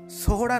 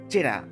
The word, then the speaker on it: Sohra: শিলং থেকে প্রায় 60 কিলোমিটার দূরত্বে অবস্থান করে সোহরা নামক এই জায়গা। সাহেবরা যেটা উচ্চারণ করতে না পেরে বলতেন চেরা, সেই থেকে এই জায়গা চেরাপুঞ্জি হিসেবে পরিচিত, খাসি ভাষায় যার অর্থ হল ল্যান্ড অফ অরেঞ্জেস।